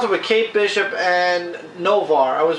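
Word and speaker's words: Noh-Varr: It starts off with Kate Bishop and Novar. I was right. Novar, who is no longer allowed on Earth. For those of you that read the whole Phoenix saga, you know that Novar actually turned on the Avengers and his people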